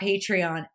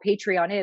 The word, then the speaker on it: Patreon: Or this patron, but basically it comes from the word patron.